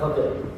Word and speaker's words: Khadr: Er itu juga salah tulis ni sebenarnya bukan tapi khadir. Ejaan ni dalam dua dalam kitab ini juga walau saya yang cakap a tapi salah. Yang tepatnya ialah khadr a k h a dr.